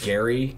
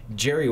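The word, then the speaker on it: Gerry: I've always called him Gary cuz spelled with a G and it wasn't until like a year ago I was like wait a minute Jerry with a G is actually short for Gerald oh yeah and so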